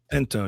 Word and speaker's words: Pinto: did about three months ago, P is it Pinto? Pinto.